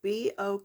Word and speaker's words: bokeh: It's B-O-K-E-H, but pronunciated bokeh.